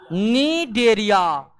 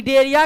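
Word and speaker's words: Cnidaria: से जाना जाता है डेरिया और नी में सी जो है साइलेंट रहता है सी क्या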